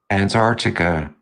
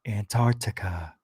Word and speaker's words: Antarctica: Antarctica. Antarctica. Antarctica. I'm never going to say it that way. Never. It should be Antarctica. Why is the C non-silento? It should be silencio.